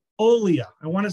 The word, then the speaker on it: Olia: Massachusetts off the beaten path uh author Maria Aaliyah um no I got that wrong uh uh uh Maria we even practiced this Maria how am I pronouncing it Olia Olia I want to say Alia that doesn't sound right so Olia Maria Olia